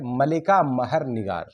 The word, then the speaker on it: ملکہ مہر نگار: جاتا ہے تو ان کا اصل نام ہے ملکہ مہر نگار۔ ملکہ مہر نگار، میرے ساتھ بولیں گے بھی تو تلفظ میں بھی، ادائیگی میں بھی انشاءاللہ سدھار